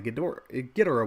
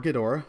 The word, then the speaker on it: Ghidorah: But since I'm talking the Ghidorah one, or Ghidorah, both pronunciations work.